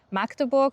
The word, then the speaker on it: Magdeburg: Und ja, und so jetzt auf Hochdeutsch würde man dann einfach Magdeburg sagen. Auf jeden Fall muss das A kurz ausgesprochen werden und darf nicht lang ausgesprochen werden.